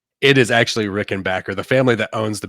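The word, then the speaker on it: Rickenbacker: yeah so uh I'm real big on my Rick and Backer guitars I have a four string and a F string Rick and Backer um I pronounced it rickenbacher all the way up until this year whenever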